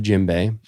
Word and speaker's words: djembe: Yeah, it's called the djembe. I think I'm pronouncing that right, but Jimbay.